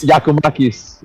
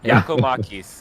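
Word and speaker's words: Giakoumakis: Giacomakis. Giacomakis.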